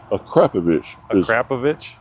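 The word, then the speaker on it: Akrapovič: Akrapovic? Akrapovic is the correct pronunciation.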